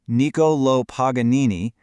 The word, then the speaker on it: Niccolò Paganini: Let's meet Nicolo Paganini and that's pronounced Nikolo Paganini.